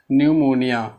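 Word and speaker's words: pneumonia: तीसरा है न्यूमोनिया। न्यूमोनिया, यहाँ पे पी साइलेंट है, जैसे आप लोगों ने देखा होगा साइकोलॉजी में।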